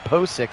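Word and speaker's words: Pocic: taken care of by that line ethan ethan posik there in the middle again kit and i have been saying his name wrong i want to make sure that i correct that ethan posik the center and now that's going to be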